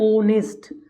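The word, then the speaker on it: honest: नेस्ट जबक नेस्ट नहीं इसमें H silent होता है तो मुंह से बोलने पर बारबार जो बोल मुह से बोलने पर तो मुंह से बोलने पर आया ऑनेस्ट तो इसलिए हम एन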